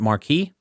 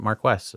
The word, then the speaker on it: Marquess: minor thing on you notice I mentioned the Marquess of Montrose you know interestingly I've always pronounced it Mark II but in the movie they pronounced at Marquess